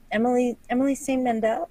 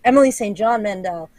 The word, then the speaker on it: Emily St. John Mandel: I also just finished a couple of Emily St. Mandel. Am I saying it wrong? No, it's Emily St. John Mandel.